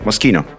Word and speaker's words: Moschino: CHI is key in Italian. Yeah. Okay, yeah. So it's key. Yeah, Yeah. you're correct. Moschino.